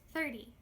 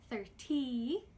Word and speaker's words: thirty: the Y sound thirteeN, thirtY, there is actually a difference in the way I pronounce the T sounds in each word!